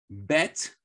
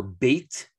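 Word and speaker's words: בית: Bet, actually, or bait properly. It's not necessarily bet, even though that's what we say in modern Hebrew. The proper word would be bait.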